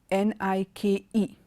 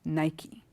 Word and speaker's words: Nike: and the last word another brand of shoe n I K E is pronounced Nike Nike okay so I hope you've got an